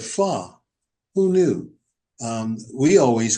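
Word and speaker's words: phở: There are places the restaurants the Vietnamese restaurants where you'll see the name FO um ph but the Vietnamese call it fa.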